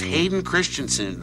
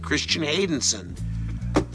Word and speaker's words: Hayden Christensen: Because I get memos that say, it's Hayden Christensen. I said, well, I said that. They said, no, you said Christian Haydenson.